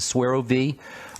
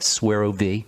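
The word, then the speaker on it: SueroViv: of those kinds of foods start using the swear OV that's a youngevity product that will give you energy su e ro v IV swear OV get letters from folks who can't find it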